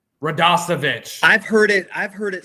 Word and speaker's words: Radosevich: And Eddie Radosevich, I said it wrong, didn't I? Radosevich.